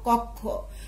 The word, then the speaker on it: কক্ষ: সূত্রগুলো যেমন করে করেছিলাম এই কক্ষ শব্দের উচ্চারণ হবে ক ক ওকার কো ক কক্ষ ওকার খো কক্ষ।